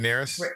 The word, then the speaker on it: Rhaenyra: So I got to get Rhaenyra, yeah.